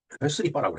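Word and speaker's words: スリッパ: 그다음에 슬리퍼는 스리빠라고 그랬죠. 스리빠. 슬리퍼에 대한 일본 발음이 스리빠입니다.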